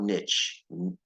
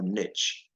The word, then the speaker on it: niche: Pika has a narrow Niche people say Niche or Niche the British say Niche a niche is basically